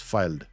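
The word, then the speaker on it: Fylde: when How do you pronounce AFC is it filed or fielded I thought we it's filed filed right AFC filed field filed yeah filed okay this yeah filed so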